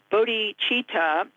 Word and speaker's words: bodhicitta: And citta, C-I-T-T-A, there's no H in there, but it's pronounced bodhicitta.